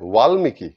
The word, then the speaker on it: বাল্মীকি: বাল্মীকি হবে ওয়ালমীকি। এই ধরনের বয়ের কিছু আলাদা ফারাক আছে, যদিও অত ভালো করে উচ্চারণ না করলেও অতটা বোঝা যায় না, এটা তো প্রবল নয়।